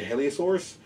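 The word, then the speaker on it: Hylaeosaurus: This guy is 2009 Collect A, and the name is spelled H-Y-L-A-E-O-S-A-U-R-U-S. I would say Heliosaurus.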